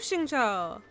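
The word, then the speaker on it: Xingqiu: i got clee too i have shincho that's how you say it it does not look like that at all if i was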